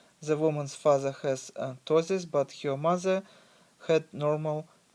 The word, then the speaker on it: ptosis: eyelids called ptosis and I want to bring your attention to the correct pronunciation of this genetic disorder name that is ptosis which is makes it